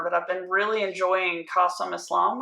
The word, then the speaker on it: Qasim: And when you go to his website, it's like literally Qasim, it rhymes with awesome.